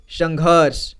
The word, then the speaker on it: संघर्ष: की मात्रा लगा है तो ये आधा र की मात्रा यह श में लगा है लेकिन उससे पहले उस र का उच्चारण किया जाएगा यानी घ के बाद ठीक है यहां पर बीच में इसका उच्चारण किया जाएगा तो इसे पढ़ेंगे संघर्ष ठीक है संघर्ष और यहां